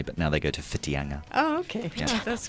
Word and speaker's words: Whitianga: Generally, it's seen that the Maori pronunciation is the proper pronunciation, so it's Whangarei. Right, okay. Yeah. So, actually, just maybe to finish... Whitianga as well. Yeah. Instead of Whitianga.